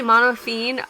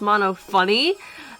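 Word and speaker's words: Monophanie: mention this real quick I merely mono afine is pronounced mono funny yeah that's really weird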